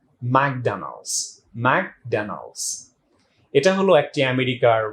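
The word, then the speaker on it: McDonald's: অনেকে আমরা এটাকে বলে থাকি ম্যাকডোনাল্ডস, but unfortunately it ইজ প্রনাউন্সড like ম্যাকডোনাল্ডস।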